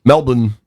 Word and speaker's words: Melbourne: Melbourne is how they pronounce it. I feel like a fool when I say it without the Australian accent, but here we are.